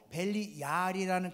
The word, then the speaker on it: 벨리알: 벨리알은 히브리 말로 벨리얄이라는 그런 음성어에서 발음되어진 것인데, 이것은 무가치한 악함 이런 것을 뜻하는 것이거든요.